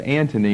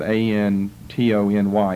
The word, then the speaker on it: Antony: the chart I believe but it's pronounced Anthony and I think more typically it will be spelled without the H his name appears once as a governor in Syria on your chart and one says the first of the three members of the second triumvirate both of which times the name occurs a-n-t-h-o-n-y I would prefer to spell it a-n-t-o-n-y Antony and Tony Anthony Mark